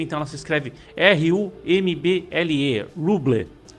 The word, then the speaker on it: Rumble: Então ela se escreve R-U-M-B-L-E, Rumble. Se fala Rumble, mas se escreve R-U-M-B-L-E.